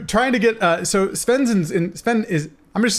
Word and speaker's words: Svenne: ask that first yeah my father is but it's called sven okay everybody called me so it doesn't matter to be honest i was watching some